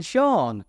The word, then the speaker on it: Sean: should be pronounced seen so his name should be seen Bean or sha BN but instead it is sha Bean two entirely different pronunciations that have almost the same spelling mading for people trying